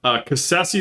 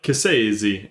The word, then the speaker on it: Cassese: But Cassese is how you say it and then in Italy when we were asking the people, they're like Cassese is how they pronounce it in Italy.